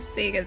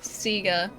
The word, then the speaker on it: Sega: Sega is always Sega. Always. Seager is objective. That is objectively correct. I will fight you over this. I will die on this hill. Sega. No, but in all seriousness, I just grew up calling it Sega. and uh the majority of my Australian friends also same deal. So I'm just saying it's probably a regional pronunciation.